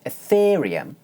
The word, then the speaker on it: Ethereum: In fact, when saying a word like 'ethereum' you can pronounce the diphthong more like a long monophthong. Let me demonstrate. Notice that for the stressed second syllable I hold one stable pitch.